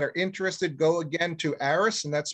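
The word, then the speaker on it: Aerus: For those of you that are interested, go again to Aris, and that's spelled A-E-R-U-S, like Sam.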